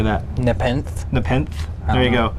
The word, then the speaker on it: Nepenthe: Nepenthe.